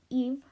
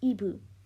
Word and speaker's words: Yves: is pronounced eve or ebu in korean so yeah why is he spelled like that anyway so her name is spelled yves just so you know